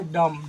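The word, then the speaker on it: dumb: थम, इसको थंब नहीं पढ़ना है, थंब पढ़ेंगे बी साइलेंट, है ना, थम मिस अंगूठा, ये डम, डम मिस गूंगा, गूंगा नहीं जानते, जो नहीं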